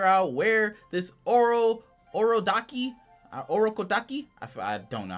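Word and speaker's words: Urokodaki: him to go to Oro kodaki that's how you say his name um he learns that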